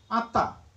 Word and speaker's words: atta: वक्ष आत्ता आत्मा We'll write Atma, but pronounce what? Atta, just as Pali used to pronounce it. Dhammo, Kammo. Theek hai? Dhammo, Kammo, Karma and Dhamma. Correct? So we use the Sanskrit spellings, but pronounce it in the Pali way.